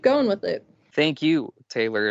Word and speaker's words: Tehlor: Taylor, and Taylor is spelled Tehlor.